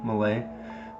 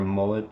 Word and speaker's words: Malay: know who she is that's how you pronounce her name malay those of you who are out there calling her mullet because you think it's